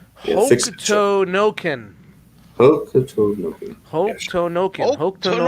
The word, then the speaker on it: Hokuto no Ken: it's pronounced Yeah, fix it, Hokuto Noken.